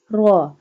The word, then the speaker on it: ر: Ra. When ra have fatha sign, we bold it.